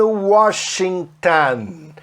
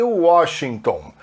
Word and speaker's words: Washington: She goes to college in Washington. Ela vai para a faculdade em Washington. O brasileiro fala Washington. Eles falam Washington. O ON para americano tem uma pronúncia AN.